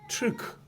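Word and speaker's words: Türk: 흉노족 중에 후예가 돌궐인데 이 돌궐의 발음이 튀르크입니다. 우리는 항상 번역을 부드럽게 한다고 그랬죠? 보죠. 디귿, 기역, 티읕, 키읔, 그죠? 돌궐, 튀르크.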